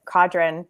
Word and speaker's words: Cadron: It's Cadron in French, but Cadron.